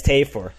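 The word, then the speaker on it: Tafur: How did we mispronounce his name before? I remember we did. It's Tafor. I'm gonna check my. I'm pretty sure it's Tafor.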